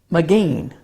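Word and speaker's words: מגן: The word is pronounced Magen. You will hear the word in Jewish communities said thus, Magen David, or the shield of David.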